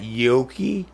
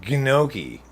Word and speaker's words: gnocchi: If you want me to pronounce that yoki, you better spell it yoki. If you're going to spell it G-N, I'm going to pronounce it gnocchi.